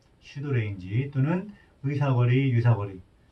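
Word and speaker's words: pseudorange: 유사거리 영어로 뭐라고 했어요 pseudo range 발음이이 피가 묵음이라고 했죠 그래서 이렇게 발음이 됩니다 슈드 레인지 또는 의사거리 유사거리 를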